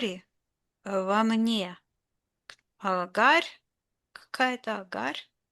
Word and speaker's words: Hagar: Hagar czy agara czy agar? Hagar. Aha. Hagar brzmi.